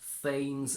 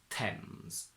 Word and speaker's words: Thames: It's completely irregular. It's not Thames, it's not Tames, Thems, it's Tems.